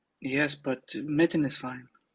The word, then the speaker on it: Metin: Am I pronouncing that correctly? Yes, but Metin is fine. okay.